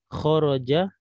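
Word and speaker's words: خرج: Jadi setiap kata kita mendapatkan kata kho, ya, kho, ro, ada jim, maka ini kita bacanya khoroja.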